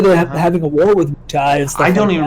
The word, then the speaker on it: Wutai: There you go, Wutai.